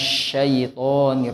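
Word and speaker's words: شيطان: Yang sering terjadi huruf shin itu sama seperti huruf sa Pak. Nah, jadi bagaimana cara membedakannya? Ya, kalau sa itu nggak ada titiknya Bu ya. Tapi kalau sya itu dia ada titiknya. Jadi bukan himinas syaiton, tapi himinas syaitonir rajim. Kayak kita ngusir ayam ya Pak.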